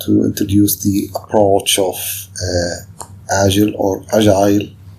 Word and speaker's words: Agile: Here we want to introduce the approach of Agile or Agile. Okay, two types of pronunciation. You can pronounce it Agile or Agile. I'll be using the term Agile or the pronunciation Agile throughout the course.